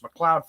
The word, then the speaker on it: McLeod: pronouncing your name and you told him it's pronounced mccloud family farm so uh i think